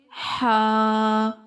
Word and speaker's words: ح: Pronounce letter Ha from middle part of throat.